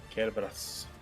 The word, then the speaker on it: Cerberus: Mimighoul Cerberus. I should double check. Oh, yeah. Okay, they do the hard C. So the Japanese is very good at teaching it. It's technically written there as Mimighoul Cerberus. Cerberus.